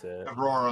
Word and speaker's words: Aurora: I'm familiar with that ship, but I can't pronounce it. I call it the Avora. The Avora. Okay. Aurora.